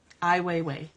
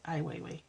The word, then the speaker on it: Ai Weiwei: Ai Weiwei. That's it. That's how you say it. Ai Weiwei.